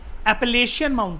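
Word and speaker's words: Appalachian: North America, east side पे जो mountainous chain है, डेट आर नोन एज, इसको प्रोनाउंस करते हैं एस, मैं बोलता हूं ध्यान से सुनना, एपेलेशियन माउंटेन।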